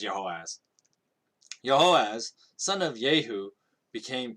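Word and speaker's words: Jehoahaz: In the 23rd year of Joash, the son of Ahaziah, the king of Judah, Jehoaz, I'm going to pronounce it as Jehoaz.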